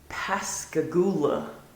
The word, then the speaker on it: Pascagoula: I think we've heard of this one before, Pascagoula. I think you've talked about this one before. I'm going to say Pascagoula. Technically, yes, you have it correct. But down here, we say Pascagoula.